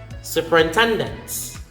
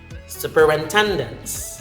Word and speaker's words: superintendent: Next is superintendents. Superintendents. Superintendent, not superintendent. I would hear some Filipino learners of English pronounce this as shu. There's no letter S. There's no SH sound.